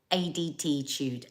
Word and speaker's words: ADDitude: ADTitude, like attitude, but with ADD.